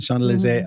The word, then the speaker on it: Champs-Élysées: Champs-Élysées.